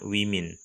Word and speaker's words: women: Kalau tunggalnya itu woman, tulisannya woman, bacanya woman. Kalau di sini ganti E, bacanya women.